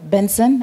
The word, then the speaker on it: BNXN: Na aside from wale artists ambao tayari tumeshawataja, Benson ambayo ni hiyo BNXN inatamkwa Benson ambaye yes, zamani alikuwa anajulikana kama Buju.